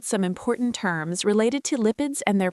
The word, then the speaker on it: lipid: Now let's look at some important terms related to lipids and their pronunciation. First, lipid. It's pronounced lip-id with a short I sound and the stress on lip.